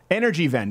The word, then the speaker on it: Energiewende: So Germany started a program in 2010 called, I don't know how to pronounce this properly, Energiewende? W is a V. Okay. Energiewende in 2010.